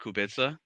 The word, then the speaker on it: Kubica: But shout out to I want to pronounce his name wrong. Robert Kubica.